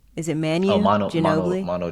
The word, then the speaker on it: Ginobili: It's Ginobili. Is it Oh, Manu Ginobili? Mono Ginobili.